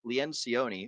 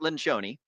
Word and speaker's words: Lencioni: it is written by Patrick leanon or Pat Pat lenon I believe is the way that he uh pronounces his name as I heard on